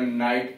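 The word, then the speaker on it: knight: तो यह पढ़ा जाए पहले, अब GH का उच्चारण पहले होता था तो बाद में नाइट कर दिया गया, MIGH माइट कर दिया गया, ऐसे करके।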